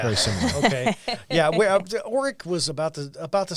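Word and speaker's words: Orrick: where are you originally from uh i'm from oreck missouri that's o-r-r-i-c-k it's not spelled like the vacuum uh it's a town of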